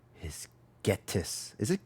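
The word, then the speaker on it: Ghetsis: My name is Getis. Is it Getis? Hatis? How do you say his name? Getsis.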